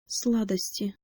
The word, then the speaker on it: сладости: The only thing to watch out for when pronouncing this word is that last syllable, t. In this case, the t is soft because it is followed by the vowel e. So make sure to put the middle of your tongue by the roof of your mouth and the tip of your tongue by your lower teeth before you pronounce this final syllable.